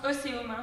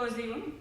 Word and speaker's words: OSÉUM: On prononce Océum, pas Oséum.